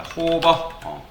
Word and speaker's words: hover: 뭐 요거를 호버라고 읽거나 뭐 다양하게 읽는데, 뭐 요거를 어떻게 읽냐면 오버라고 읽는 분도 있고, 그 다음에 호버라고 읽는 분도 있고, 뭐 H 오버라고 읽는 분도 있습니다. 뭐 롤 오버라고도 하는데 저는 보통 호버라고 읽습니다.